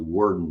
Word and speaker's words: Worden: I keep saying Warden. It's actually Warden is the way correct pronunciation, I'm told.